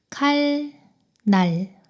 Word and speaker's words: 칼날: 칼, 날. 여기서 니은이 리을 뒤에 왔어요. 이럴 때 뒤에 있는 니은이 리을로 발음됩니다. 칼날, 칼날. 다음 끊어서 읽으면 물, 난, 리네요.